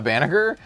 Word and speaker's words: Banagher: unless you have a Banagher. Or Banagher, apologies. I keep calling him Banagher because I watched it in Japanese. I watched Unicorn in Japanese, but I know it's pronounced Banagher.